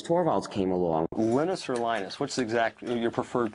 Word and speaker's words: Linus: And that's when Linus Torvalds came along. Linus or Linus? What's your preferred pronunciation? When I speak Swedish, it's Linus. When I speak Finnish, it's Linus.